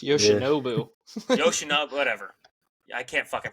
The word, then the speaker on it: Yoshinobu: Yoshishibu Yamamoto. This season has got an N in there. It's Yoshinobu.